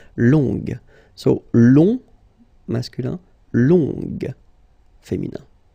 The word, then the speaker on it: longue: Okay, so phonetically it's longue, g, longue.